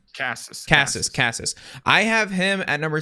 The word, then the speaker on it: Casas: Casas.